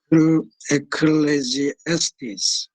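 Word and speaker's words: Ecclesiastes: 이거 발음이 어려운데 에클레지에스티스 이렇게 발음을 합니다.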